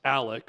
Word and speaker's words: Alex: Well, the main thing is the double homicide, double murder, that the elder Murdaugh, in this case, Alec, or it's spelled Alex, but Alec Murdaugh is accused of.